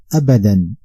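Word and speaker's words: أَبَدًا: This word is pronounced in transliteration Abadan. This word contains 3 syllables: first, second, third.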